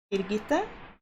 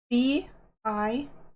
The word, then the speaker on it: Birgitte: And my name is Birgitte. And it's spelled B-I-R-G-I-T-T-E. Birgitte. I know it's hard to say it as an English speaker, or maybe some other places too.